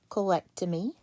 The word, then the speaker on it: colectomy: Me, colectomy. This is a 4-syllable word.